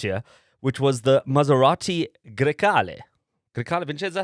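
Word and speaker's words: Grecale: come early next year which was the Maserati Gali Galza how it's pronounced Gali close.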